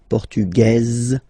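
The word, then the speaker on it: portugaise: The Feminine form okay masculine portug you don't pronounce the S feminine form portuges you pronounce this z sound okay and then ESP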